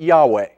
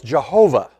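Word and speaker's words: יהוה: So some people say you pronounce it Yahweh. Other people say, no, it's Jehovah.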